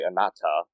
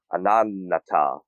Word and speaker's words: Ananta: I always pronounce this wrong because I want to say anata, you know, like the the word anata, but it's not bad even though it' be a great name. It's an Ananata, I think it's called.